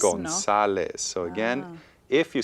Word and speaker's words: González: Okay, so again, according to the rule, it should be pronounced González, but González, it's no. González.